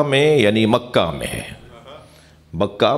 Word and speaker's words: بکہ: یعنی مکہ میں ہے بکہ مکہ مکے کا دوسرا نام مکے کا دوسرا تلفظ بکہ ہے صلوات پڑھنے ذرا